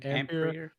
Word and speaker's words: Ampere: Yeah, Ampere.